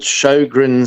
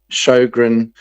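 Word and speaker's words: Sjögren: Um, and it's called Shogrin syndrome, which is spelled SJ and then an O with two littleies on it. Two little dots above it. G R E N. Shogrin syndrome.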